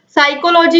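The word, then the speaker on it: psychology: एसपी और नंददेव दोस्तों साइकोलोजी हो चाहे साइकोथैरेपी हो दोनों में ही पिएं इस आयरलैंड है तो ऑप्शन चीज है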